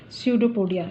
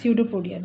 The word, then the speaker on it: pseudopodia: no leveling of cytoplasmic pseudopodia look at here this is pseudopodia this is pset4 p o d I a pseudo podía P is silent this is the false